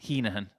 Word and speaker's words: Heneghan: because we started with Heneghan, and then we eventually plucked up the courage to walk up to the lads and say, 140. okay, tell us how to say it. And they said, Heneghan.